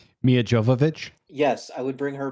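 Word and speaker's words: Milla Jovovich: I can never pronounce her name. Mia Jovovich.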